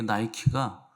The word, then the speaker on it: 니케: 그래서 테살리아 니케 요걸 이제 합성해서 데살로니카 아 이렇게 붙은 건데 그 니케는 여러분들 잘 아는 여신입니다. 그 어 스포츠 브랜드 중에 나이키가 그 니케의 영어 발음이에요.